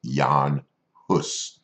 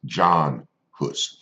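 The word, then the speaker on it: Jan Hus: want you to take note of how I pronounced his name it is Yong puss now that name is anglicized and we probably know him a little bit better as John hood but his original name is that of Yong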